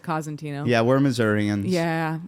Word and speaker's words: Cosentino: for five years and I've been saying your name wrong for five years here's the thing don't get no one get mad at Aaron because you're saying it probably the correct Italian way you know but my